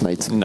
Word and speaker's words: Knight: dents si vite mais en fait ça se prononce night simplement et je crois qu'il